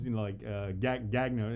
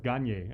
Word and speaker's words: Gagne: It looks like Gagne, and some people would say Rose, Gagno. No, it's Gagne. Gagne.